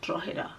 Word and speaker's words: Drogheda: Then they all laugh and they said, oh, this is how you pronounce it. It's called Drogheda.